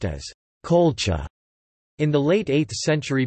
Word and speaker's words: Qulḫa: The name Colchis is thought to have derived from the Urartian Kula, pronounced as Colcha.